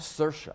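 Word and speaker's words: Saoirse: say her name shersha sercia sir with a shot on the end of it okay that's it see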